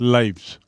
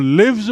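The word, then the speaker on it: lives: Jeena to लिव और लिव्स मतलब लिव से जो लिव्स बना उसका उच्चारण देखिए स्पेलिंग वही है एल आई वी ई एस लेकिन उच्चारण हो गया लिव्स टू लिव्स मतलब जीता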